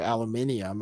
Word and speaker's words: aluminium: You know, in England they say aluminium. I never figured that out. They don't spell it differently. Like aluminum? Yeah, they say aluminium, but they don't add an extra letter or anything. They just say it wrong.